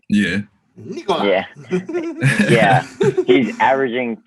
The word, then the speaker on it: Nikola: Trae is averaging 2 more points than Nicole Nikola. That's how you say his name, right? Yeah. Nikola.